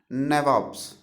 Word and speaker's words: nabobs: that company officials become nabobs nabobs thickener it is English pronunciation it is the English pronunciation of the word Nawab okay company officials become